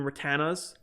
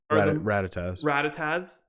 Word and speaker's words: Rattata: Actually, Weedles, Pidgeys, and Rattanas are Rattatas are the I always pronounce it wrong.